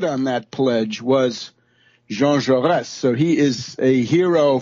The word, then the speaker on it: Jaurès: assassination of the great French socialist leader Jean Jaurès, J-A-U-R-E-S, with a little accent on the last